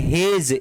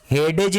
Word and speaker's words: hedge: अब यहाँ पे क्या है, HEDGE, हेज, इसको हेज पढ़ेंगे, हेडेज नहीं पढ़ेंगे, इसको पढ़ेंगे हेज। D वर्ड का उच्चारण यहाँ पे नहीं है, तो D वर्ड का उच्चारण नहीं है, इसको क्या पढ़ेंगे, हेज।